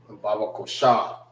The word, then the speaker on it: Babaqashah: Baba Kosha. Baba Kwasha. which is spelled BABAQASHAH. Baba Kosha. All right, Baba Kosha. Ba Kwa Sha.